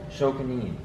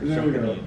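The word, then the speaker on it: 職人: First of all, is this philosophy, this pronounce it for me. Shokunin. I knew that. It's an interesting one. Yeah, For the record, Shokunin.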